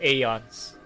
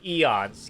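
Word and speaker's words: Aeon: I'm going to call it AON, not Eon.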